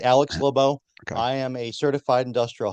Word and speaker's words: LeBeau: appreciate that yep you said it right Alex leau I am a certified industrial hygienist I'm also